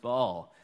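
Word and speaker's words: Baal: worshipping along with Yahweh was bail or what is sometimes pronounced ball and ball in Canaanite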